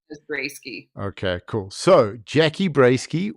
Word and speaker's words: Broesky: Um, how do it's not, so it's not Bursky, it's Brodsky.